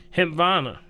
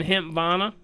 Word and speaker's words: Hempvana: It's a HEMP like in Paul, VANA. Hempvana. Are you saying Hempvana?